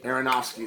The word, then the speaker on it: Aronofsky: uh darren a i hate that i can't pronounce let me try to see aronofsky aronofsky there we go see stick with me long